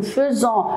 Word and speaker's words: faisons: On écrit avec AI, nous faisons, mais on le prononce nous faisons.